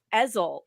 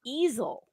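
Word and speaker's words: Ezell: I've been calling him eel and his last name is actually pronounced easel like an art easel even though it's spelled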